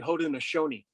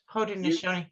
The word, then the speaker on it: Haudenosaunee: And when the name is actually Haudenosaunee. Haudenosaunee. I've Yeah. never known how to say it correctly. It does not sound like it looks like it's spelled right.